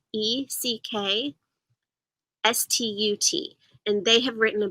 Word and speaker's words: Eckstut: Sterry is spelled Sterry, and Eckstadt is spelled Eckstut.